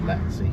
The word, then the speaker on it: Latchi: Next junction on the left towards the No 9 and Latchi, or Latzi, it's sometimes pronounced.